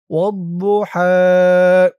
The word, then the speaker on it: والضحى: বদের উচ্চারণটা খেয়াল করুন। বু, বু, মুখটা গোল ভরপুর হয়ে যাবে। বু, একেবারে দু বলা যাবে না। দু বললে দালের উচ্চারণ হয়ে যাবে। ওয়াদ্দুহা।